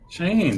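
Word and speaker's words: Shiaine: owned by the lady guys pronounce that Carrie pronounce the lady s h i a i n e um lady shyen cheyen exactly yeah cheyen okay the lady cheyen and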